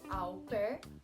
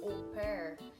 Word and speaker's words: au pair: surgiu o programa opera nós falamos alper mas na verdade é pronunciado ou ímpar é uma palavra de origem francesa que significa at fair